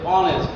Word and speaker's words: honest: আমরা সহজ উচ্চারণেই দেখতেছি যে অনেস্ট, তাহলে এই এইচ এর মতো উচ্চারিত হয়নি, তাহলে কি বসবে?